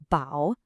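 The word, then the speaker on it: 饱: When you combine food with our sound clue, ba, you get ba pronounced bow.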